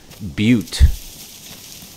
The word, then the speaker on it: butte: But I mean, that's a cool view of that butte. Butte is how it's pronounced.